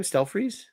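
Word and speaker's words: Stelfreeze: Stealthfreeze? Brian Stealthreeze.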